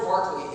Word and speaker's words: Berkeley: to move okay George Barkley it's spelled Berkeley it's pronounced Barclay all right don't ask